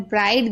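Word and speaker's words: bright: अगर किसी शब्द के अंत में GH या GHT हो तो GH साइलेंट रहता है, यानी आखिरी में अगर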